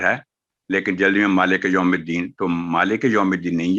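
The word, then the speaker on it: يوم الدين: واو ایک حرف ہے، تو یو نہیں ہوگا، یوم الدین، تو یہ اس کا صحیح تلفظ ہے۔ آگے ہے ایاکا، یہاں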